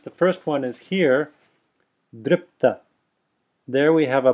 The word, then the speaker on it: dripta: So it's dripta. I'm not saying, notice I'm not saying dripta. I'm putting a pause there between, as if a pause between the p and the ta, saying dripta. And that's really just an extending of the p, dripta.